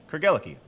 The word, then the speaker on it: Craigellachie: Think of it as a love story. Craig fell for Ella, who gave her the key to his heart. Craig, Ella, key. Craigellachie.